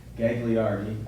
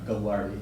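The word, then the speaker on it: Gagliardi: three football we have What's called the gagliarity or go large depending on how you pronounce it uh Trophy and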